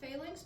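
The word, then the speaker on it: Falinks: a has an official I've heard it pronounced failinks but I can't remember why and I kind of like what you said so yeah I say I say fall links because I think like fall in line and they're all in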